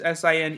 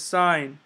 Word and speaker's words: sin: of writing sign as s i n e we abbreviate it as s i n so again it looks like sin but it's not it's sign okay so don't get